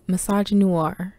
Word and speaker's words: misogynoir: today's episode topic is massage noir no i did not pronounce misogyny wrong the term misogyny noir